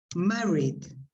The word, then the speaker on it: married: Well, in those cases, ed is pronounced like a d. So you say married in the past. Yes. Married. Studied. Okay.